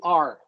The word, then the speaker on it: our: A lot of Americans reduce this one, the pronoun our, to R.